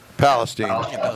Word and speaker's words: Palestine: Is it Palestine? Yep. Palestine.